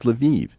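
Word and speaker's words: Lviv: now by the way if I say luvov everyone's gonna correct me and say no no Eric it's leviv it's like no these spit these cities all have multiple pronunciations I I always thought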